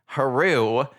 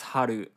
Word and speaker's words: Haru: and here we are the main character is named hero which is a japanese name and they don't even pronounce it right yeah it's so upsetting yep in japanese it's haru yeah it's just it's